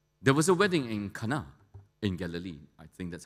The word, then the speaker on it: Cana: was a wedding in Kana in Galilee I think that's how they pronounce it having been to Israel and Turkey they say it's not Cana it's Kana k and a right and the mother